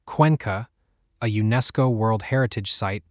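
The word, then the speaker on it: Cuenca: Number three, Ecuador, specifically the highland city of Quanka, pronounced Quanka, a UNESCO World Heritage site sitting in the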